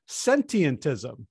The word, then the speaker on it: Sentientism: talk about a new word for me uh sentientism first of all did i say it right yeah that's a great start your pronunciation was perfect it has a few too